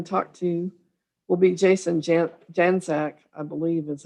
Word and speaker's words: Janczak: Janczak.